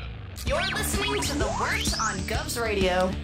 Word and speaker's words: Wort: Not warts, not forts, not short.